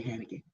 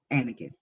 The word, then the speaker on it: Anakin: to hakin I say hakin Anakin I say hakin Anakin Skywalker let's say his name correct that's another one kids